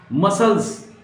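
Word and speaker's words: muscles: तो seizures, मसल्स, right, इसमें सी नहीं बोला जाएगा, मसल्स, CLES है तो सी नहीं बोला जाएगा, मसल्स।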